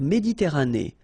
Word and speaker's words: Méditerranée: La mer Méditerranée, okay? Here final not pronounced, but then you pronounce this E at the end.